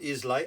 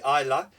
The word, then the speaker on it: Islay: As I said, from Islay, not Islay, Islay.